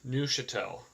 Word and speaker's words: Neuchâtel: specific unit called the Neuchâtel, or sorry, the Neuchâtel. I went on Google Translate, and I guess that's the correct pronunciation. It's actually pronounced Neuchâtel, and I guess that's